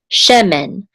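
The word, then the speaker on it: שֶׁמֶן: which says share and this is the accent mark so the accent is on the first syllable che this is a remember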